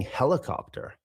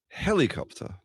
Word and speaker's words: helicopter: Yeah, I notice now that you've said it that I'm doing more like a heli, right? Like a kind of a pretty clear E, whereas yours is more like a schwa, right? It's more like a helicopter. Helicopter. Copter. Helicopter. Right. And also, of course, you're pronouncing your R, right? Your R is really clear compared to mine.